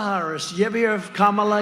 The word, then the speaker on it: Kamala: You ever hear of Kamala? You have to pronounce it Kamala.